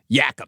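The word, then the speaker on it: Jacobsz: That is the proper way to the proper 16 17th century Dutch way to say Jacobs. Yakubs.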